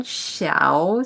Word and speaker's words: Shiau: would just say it slowly again, Xiao. So it sounds like shower, but it has the shorter like accent. And so there are two characters in my Chinese-oriented name. So the first Xiao means morning, means clouds.